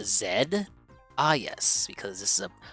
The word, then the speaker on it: Z: name is z but he's actually it's actually pronounced Zed ah yes because this is a a British